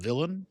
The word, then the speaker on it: Vylan: Bob Vylan, and by the way, it's spelled Vylan. I want to say Bob Villain. I like that. I think it sounds good.